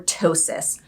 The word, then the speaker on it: ptosis: get lid root or ptosis starting with the p silent p ptosis for and that's a